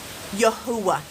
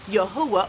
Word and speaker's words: Yahweh: Some people decided that they are going to pronounce this Yahwh.